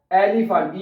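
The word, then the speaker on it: Elefant: को एलीफेंट क्या बनेगा एलिफेंट ई को ई नहीं पढ़ना इसको आपने पढ़ना है ए एलिफेंट ठीक है एलिफेंट क्या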